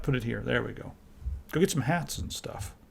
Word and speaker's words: GOG: They told me, please don't say GOG or Good Old Games anymore. It's just GOG. So I was like, all right, GOG it is.